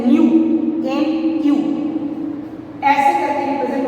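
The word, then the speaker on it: ν: Frequency को represent जो किया जाता है ना, ये भी ग्रीक लेटर है, इसको कहते हैं न्यू, एन क्यू, ऐसे करके रिप्रेजेंट होता है, ऐसे क्या कहते हैं इसको, एन यू, एन यू, न्यू।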